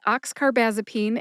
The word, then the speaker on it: oxcarbazepine: Oxcarbazipene has five syllables. The first two syllables sound like box car, which is a type of car that a train pulls. Just drop the B.